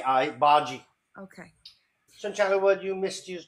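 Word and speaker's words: bhaji: bogy with it Bary sorry how do you pronounce that b b that's what he said he's making b h a j i baji okay what you missed us doing Bollywood yeah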